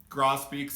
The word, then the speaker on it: grosbeak: beaks because they have a big gross beak gross beaks is how it's actually pronounced but potato potato not worried about it